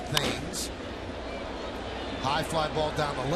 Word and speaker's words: Thames: Here's Eric Thames, spelled like Marcus Timms spells his name, but pronounced Thames.